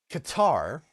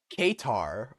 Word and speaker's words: Qatar: Qatar, or if you're English, Qatar, or if you would like the Arabic pronunciation, Qatar, is going to acquire a part of an Air Force base in Idaho.